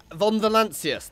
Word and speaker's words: Von Valancius: Von Valancius, that's the name. Von Valancius. Done. I can now pronounce it properly because he shouted it.